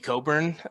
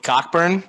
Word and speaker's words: Cockburn: than average has been kofi coburn or as we talked about in passcod past podcast is kofi cockburn which kyler we already know that that's his preferred pronunciation of the player not